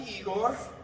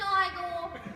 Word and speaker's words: Igor: You must be Igor. No, it's pronounced Igor. But they told me it was Igor.